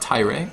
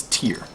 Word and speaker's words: tier: So Oh, tier rhymes with beer. So it's not ty, it's not tire, it's tier.